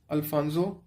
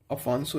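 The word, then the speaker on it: Afonso: नाम तो चलो सही है, अफांसो है ये, अफांसो डी अल्बुकुर्की, ठीक है।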